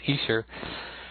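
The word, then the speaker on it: Esher: the Easter demos, and that's the way it's pronounced now. Somebody in the Beatles News and Information group the other day told me it was Easter, and I kind of looked at it and I didn't believe it, but it's very true. That's how it's pronounced, Easter.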